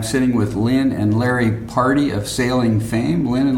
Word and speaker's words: Pardey: We are going to move on now to the interview with Lin and Larry Pardy. That's spelled Pardey.